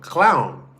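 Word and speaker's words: Klovn: Clown. I was like it's spelled cloven. K l o vn. So they were like no that's how you pronounce it in Danish. It's clown.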